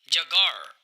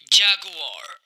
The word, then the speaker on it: jaguar: rat, rat, चूहा, jaguar, इस word को आप ऐसे नहीं कहेंगे जगार, बल्कि आप कहेंगे jaguar, तेंदुआ, bat, bat, चमगादड़,